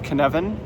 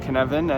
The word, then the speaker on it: Cynefin: So the first one I want to talk about is canvan which is spelled c y nef i n.